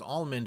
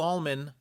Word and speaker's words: Alman: Bill almond and yes I wish his name was almond with a d because that's how I want to pronounce it but there's no D it's Bill Alman so there you guys